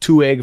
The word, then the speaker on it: Two Egg: there's a town called two egg Florida oh that sounds good is it two eggs is it spelled like two eggs two two egg Florida all right t-w-o-e-g-g two egg two egg this